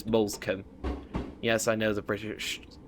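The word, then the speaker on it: Moulsecoomb: Looks like it should be pronounced molum, but it's molescom.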